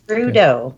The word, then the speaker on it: Trudeau: name right is that how you say it trudeau yep trudeau yeah there might be some kind of french